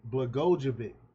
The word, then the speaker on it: Blagojevich: Blagojevich, I can never pronounce his name right, Blagojevich, that's how you say it, also mentioned tensions between Biden and Vice President Kamala Harris, suggesting that their relationship is strained due to past betrayals.